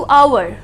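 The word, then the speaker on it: hour: ठीक है, come back to आवर. कई लोग इसको आवर बुलाते हैं, कई लोग इसको आर बुलाते हैं. दोनों केसेस में H साइलेंट है.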